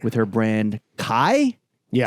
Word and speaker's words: Khy: Oh right, with her brand Kai. Yeah, how do you say it? KHY. I guess I was like I just think of the Kai, Free My Man, locked up doing the stream.